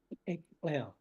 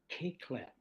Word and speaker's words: Eklel: story, can you say Eklel? One more time. Eklel. Eklel. Yeah. And if you cannot pronounce that, the missionaries later who didn't like our shamanic language, that they changed it to Keklel.